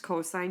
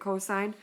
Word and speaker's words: cosine: It's written as cos when you're writing the formula, but it's pronounced cosine. You'll read it cosine.